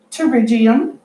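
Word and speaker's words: pterygium: number 23 is pronounced turbo GM the P is silent that's a teeth Pte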